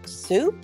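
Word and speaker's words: sew: beginning of the word soup so is another word that starts with the S sound but has a little bit of a confusing spelling s e w so when you don't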